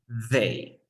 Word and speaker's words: they: No es una D natural, no. Es they.